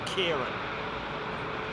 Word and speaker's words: Ciarán: KW Green, I guess the best way to do it is put a K, take the C and replace it with a K and pronounce it like that, Kieran.